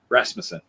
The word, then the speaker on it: Rasmussen: But I'm uh I should have asked you before we went on proper pronunciation for your last name. Rasmmanson.